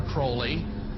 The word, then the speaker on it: Crowley: have his name pronounced Crowley to rhyme with holy and the satanists today